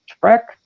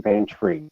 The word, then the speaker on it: Van Tree: We have writer Richard Paulin, Frank Luke, and Aaron on, is it Aaron Trek? I don't want to mispronounce it. Aaron Van Tree, thank you.